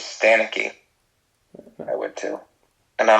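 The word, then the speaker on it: Ricky Stanicky: Oh, so that's how you say it? Ricky Stenicki. Ricky Stenicki. Yeah. I thought when I read it, I thought it was Stanicky, I would too.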